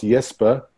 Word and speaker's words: Jesper: It's pronounced Jesper, not Jesper, please.